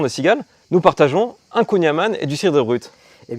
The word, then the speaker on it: kouign-amann: Et il y a une prononciation à la bretonne.